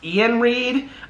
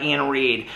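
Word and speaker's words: Iain Reid: ending things by uh i think it's pronounced ian reed um it looks like but it's i a i n read okay this book i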